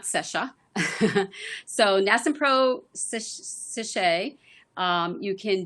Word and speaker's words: SESHA: So it's pronounced SESHA, not SESHA.